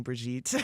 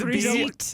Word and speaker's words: Brigitte: I was wondering why everybody was calling me Brigitte. Oh, It's Brigitte. Brigitte. There's no T.